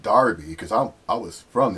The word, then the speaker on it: Derby: break and he goes i should know it's pronounced darby because i'm i was from there i used